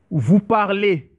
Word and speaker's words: parlez: Vous parlez. And the Z, the E and the Z, it pronounced as E.